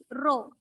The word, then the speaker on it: rho: Pronounced as rho. R-H-O. Rho.